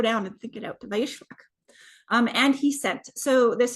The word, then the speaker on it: וַיִּשְׁלַח: Okay, so Vayishlach, that's how you say it. I just got to slow down and think it out. Vayishlach.